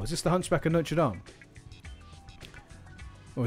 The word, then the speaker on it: Notre Dame: this the Hunchback of Notre Dame or As Americans say Notre Dame that's good that I